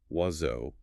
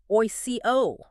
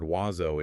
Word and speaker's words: oiseau: their English-trained brain immediately tries to decode those letters using English phonetic rules. And they end up pronouncing it oico.